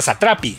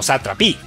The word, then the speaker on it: Satrapi: Y Marjan se pronuncia Satrapi, no Satrapi.